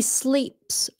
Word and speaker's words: sleeps: He sleeps all day long. He likes to sleep in, so he sleeps all day long. S. Sleeps. Remember, it's not a voiced sound.